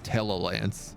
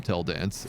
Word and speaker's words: Tella Lance: every character's name like this guy's name is Tella Lance and I call them tell dance almost every single time without fail you get repaired you